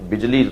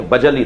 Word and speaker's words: بجلی: بعض لوگ اسے غلط پڑھتے ہیں, بجلی تلفظ نہیں ہے, بجلی تلفظ ہے, لکھا ایسے ہی جائے گا بہرحال.